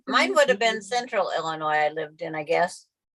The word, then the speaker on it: Illinois: But it's like you live there, you The should S say, is silent. yeah, Illinois. that's Illinois. Illinois.